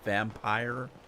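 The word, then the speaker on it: Vampyre: I've been playing a game that I've had for years now, and I never played it, called Vampire. It's spelled differently.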